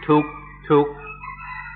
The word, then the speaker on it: dukkha: In Thai, they pronounce it tuk, tuk, and this is a word everybody knows.